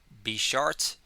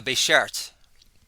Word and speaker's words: beshert: And these are the moments that Be Short made dreams are made of. And a Beshert, I didn't say it right the first time, is Hebrew for soulmate.